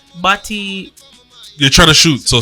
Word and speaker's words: Bati: No, he said it's baddie time. Yeah, but it's Bati.